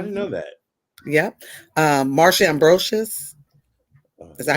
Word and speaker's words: Ambrosius: Marsha Ambrosius. Is that how you say her name? Marsha Ambrosia, yeah.